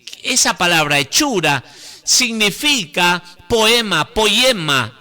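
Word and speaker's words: ποίημα: palabra hechura significa poema poema es la pronunciación del griego poema poema y qu se la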